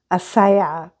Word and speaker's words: Ajisai: And the way that her name is pronounced is Asaya.